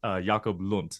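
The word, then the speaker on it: Jacob Lund: pronounced your your name it is J yakob Lun not hunt that is my my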